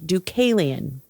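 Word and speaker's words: Deucalion: And then there's a character named Ducalian. Now, what I had to look up how to pronounce that name because I was not putting a hard C. I was doing like an S sound and I was like,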